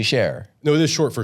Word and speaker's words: Cher: It's not short for something. It's actually share.